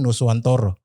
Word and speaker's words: Nusantara: Nusantara itu kan dibacanya Nuswantoro.